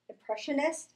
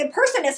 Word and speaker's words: impressionist: And it's not just talented with being a comedian and an impressionist. See, I said it right now. I know. I was like impersonist. He's like, you're like impressionist, Nicole. I don't know what's going on.